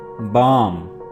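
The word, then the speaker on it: balm: बाम, बाम, L is silent here, बाम।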